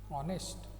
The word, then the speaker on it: honest: An owl, an umbrella, now vowels are there, but an honest person, though the word begin with H, honest, but the pronunciation is O, like O.